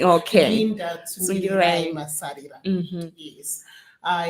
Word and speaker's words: Tsungirirai: So I usually like my Tsungirirai Tsungirirai pronounced as it is Okay. Linda Tsungirirai Tsungirirai.